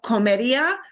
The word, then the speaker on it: comería: I used to eat, yo comería, but it's comería. We keep the ER on. Comería. You got to listen. Okay. They might be slightly harder to pronounce because we're keeping the whole infinitive.